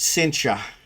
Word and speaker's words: Cynthia: So, I figured few people will probably get him and his wife Cynthia, though they they pronounce it cincha.